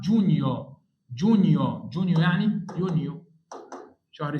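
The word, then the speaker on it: Giugno: لو حد كان مركز دي اسمها نيو نيو الجي مش ه تتنطق يبقى اسمها جونيو جونيو جونيو يعني يونيو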